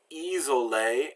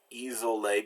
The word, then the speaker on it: isolé: Nation, action, and S between vowels is pronounced Z, and the two S's between vowels is pronounced S. So we have like isolé and assume. So here it makes a Z sound because there's only one isolé between two vowels.